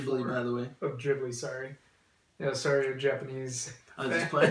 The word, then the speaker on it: Ghibli: like a Studio Ghibli movie that I'd give like a 10 out of 10. Ghibli, by the way. Oh, Ghibli, sorry.